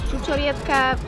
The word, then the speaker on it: čučoriedka: My favourite one is “čučoriedka”, it means like ‘blueberry’ and you should try to say it like "ču-čo-rie-dka," because it’s a bit hard.